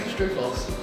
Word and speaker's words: Strufos: Strufos. I know it's Strufos. You have the world's worst surname to pronounce. I can do my whole name. I think I've called you Strophus before. That's close enough. Strophus, Strufus.